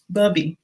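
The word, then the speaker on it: Bubi: buccal Island cool uh t-carr house' and the bubby people anyway up that says booby year incorrect I was not gonna be anybody I guess you never told me that yes bubby that's how you pronounce it okay I've been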